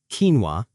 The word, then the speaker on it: quinoa: Quinoa. Quinoa. Quinoa is a healthy grain from South America. The pronunciation is quinoa.